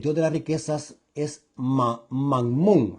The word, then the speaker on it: mammón: de las riquezas es mammón algo así se pronuncia mmon o mmon sí